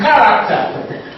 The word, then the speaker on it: character: cat Asing cage cage you can realiz by letter ch ch has in chaos chaos chaos it can beiz by letter CH again as in character character character so CH realiz work